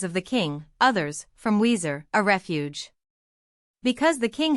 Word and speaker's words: Wazir: Wazir is an Arabic word, and is pronounced by the Arabs as I have written it. But the Turks and Persians pronounce the first letter V.